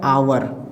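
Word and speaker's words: hour: silent हो जाएगा तो यहां भी देखिए एच के बाद ओ है तो यहां भी ए साइलेंट हो जाएगा एच के बाद ई है तो यहां भी साइलेंट हो जाएगा ए है ना तो ये क्या हो गया ए साइलेंट हो गया एच साइलेंट हो गया तो ये क्या हो गया आवर ठीक है ये क्या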